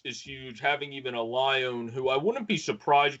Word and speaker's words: Lyon: What they pronounce Lion, Yeah, however you want to call it.